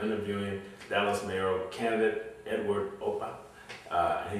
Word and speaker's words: Opka: And today I have the pleasure of interviewing Dallas Mayoral candidate Edward Opka. And he told me the K is silent, so everyone should remember that.